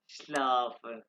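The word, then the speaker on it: schlaf: कम और नेक्स्ट है श्लाफ एस सेहा एस सेहा भी आएगा ये आवाज निकालेगा एस से श्लाफ सो जा ये सारे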